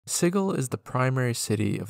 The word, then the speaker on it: Sigil: a soft G and sigle the city has a hard G I'm very sorry to